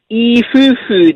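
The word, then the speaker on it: いい夫婦: a word and so today is is ifufu day which means good couples day because the the letters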